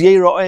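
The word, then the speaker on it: יראה: could be pronounced as Yir'eh, see. It could be pronounced as is the correct way of pronouncing it, and that is Yeira'eh, is to be seen.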